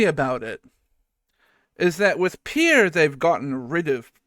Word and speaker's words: Pierre: saying it wrong because in South Dakota they say this as Pier don't now listen I